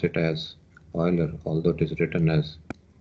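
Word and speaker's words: Euler: carried out by Oiler as I mentioned we pronounce it as Oiler although it is written as e l r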